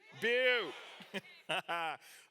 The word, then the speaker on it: Butte: By the time I was younger, Butte, Montana, we would actually call it Butt, Montana.